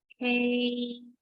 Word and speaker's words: Hades: This is how you pronounce Hades.